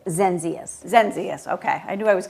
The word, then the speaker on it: Zenzius: how do you say your last name zenzius zenzius okay I knew I was gonna get it